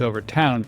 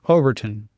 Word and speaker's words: Overtoun: If you go out on the interwebs, like my assistants and I do, it's said different ways, but I listened to a couple of locals say it, and it's Overtoun.